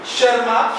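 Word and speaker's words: Tschermak: लेकिन तीन साइंटिस्ट थे हमारे हीगो डीस शर्मा टी साइलेंट है यहां पर।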